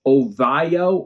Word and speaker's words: Ovalo: It's spelled Ovalo, O-V-A-L-O, and Ovayo or Ovayo, O-V-A-L-L-O, with the Spanish influence.